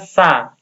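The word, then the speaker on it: 사: Ini pelafalannya seperti huruf S, kemudian ini A, ini sa. Hati-hati nyebutnya sa. Tidak boleh ada angin yang berembus. Sa. Kalau sa itu konsonannya lain lagi.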